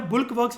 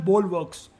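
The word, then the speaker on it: bulwarks: इसको बल्क या बुल्क वर्क्स नहीं बोलते, द प्रोनाउंसिएशन है बोलवर्क्स।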